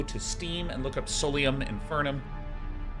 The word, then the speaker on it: Solium Infernum: steam and look up Solium infernum I keep saying solum infernum cuz I like mispronouncing things and making people cringe aium infernum it's out